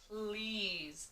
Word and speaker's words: please: s says pull ease please please so this word please is spelled with an e at the end and it is a silent e so this is kind